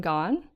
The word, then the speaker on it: Gawne: Yeah, but she's nice and says that it's okay to pronounce it like Gawne, as in Gone Girl.